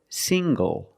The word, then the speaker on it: single: good also this word single single the NG makes the nasal um sound plus the hard G sing go single I'm not single I'm